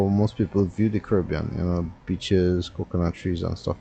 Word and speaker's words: Caribbean: By the way, how do you say it? Caribbean or Caribbean? I hear a lot of people from the northern islands saying Caribbean. To me, that's the North American way to pronounce it. I say Caribbean because I believe, I'm not a historian, but the word Caribbean comes from Carib, not so? Carib, not Cara. Anyway, so school on the right.